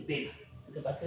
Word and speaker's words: bema: Esto tiene una palabra griega que es el bima. Perdón, disculpen. No es el bima, es el bema. Lo que pasa es que se pronuncia bima, pero es el bema.